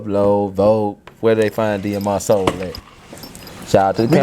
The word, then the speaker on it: DMRSOUL: the word, it says DMRSOUL. Can you pronounce DMR together? Demur. No. We're not doing that. It's DMRSOUL. That's it. Everything. DMRSOUL. It ain't even complicated. You better not call me D Mr. Soul.